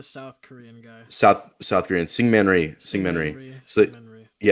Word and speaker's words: Syngman Rhee: South Korean Syngman Rhee, Syngman Singman Rhee.